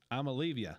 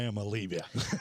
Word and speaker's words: Iamaleava: First of all, it's spelled IAMALEAVA, which really comes down if you like Aaron said, if you pronounce it phonetically, it's Amalevia.